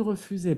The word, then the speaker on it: refusé: Refusé, hay una sola S en la palabra, entonces se pronuncia Z, S dans un mot.